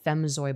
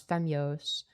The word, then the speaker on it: Femyoz: I've been called Femzoy before, unironically. It's like, dude, I can't lie. Like, it's not that it's 6 letters. It's easy to pronounce. Femyoz. I'd understand Femyoz. Like that's an acceptable pronunciation too.